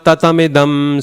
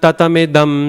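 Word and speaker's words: ततमिदम्: Okay, so the first time we did it, a lot of people paused after tatam. Maya tatam idam sarvam, right? But that pause is not necessary. In fact, it changes the value of the M there, because it's all short sounds.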